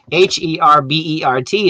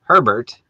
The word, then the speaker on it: Herbert: wants to know why h-e-r-b-e-r-t is not pronounced a bear well there's actually two names very close together if you have two r's it's herbert but if you take